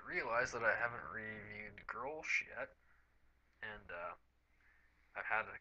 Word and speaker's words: Grolsch: I realize that I haven't reviewed Grolsch yet, and I've had a couple of people talk to them about maybe the pronunciation of the Grolsch.